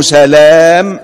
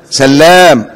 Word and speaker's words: سلام: كل ما كان من هذا القبيل ينطق مشدد اللام ما عدا خمس أسماء. إيه الأسماء الخمسة؟ أولا عبد الله بن سلام الإسرائيلي الصحابي الجليل. اوعى تغلط وتقول عليه إيه؟ ها؟ سلام، لأن ده مستثنى.